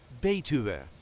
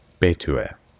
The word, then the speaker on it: Betuwe: And this time we will see how to pronounce in a regular Dutch accent Betuwe. Betuwe.